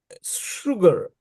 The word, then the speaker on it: sugar: know their pronunciation like sugar. You you write s u g a r but they pronounce sha sugar not sha.